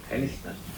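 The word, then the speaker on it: Penistone: Hill and that gives us penrith pen and peniston yes it's pronounced peniston you remember that I said that recent DNA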